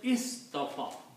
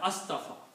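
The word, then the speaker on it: اصطفى: Your question was, if you are pronouncing separately, this word is istafa, not astafa, because we see from here. But when you combine with Right. these two words together, then it will become inna Allah hastafa.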